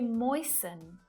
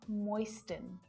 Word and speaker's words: moisten: We say moisten, not moisten.